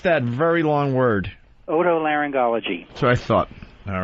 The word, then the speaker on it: otolaryngology: How do you pronounce that very long word? Otolaryngology.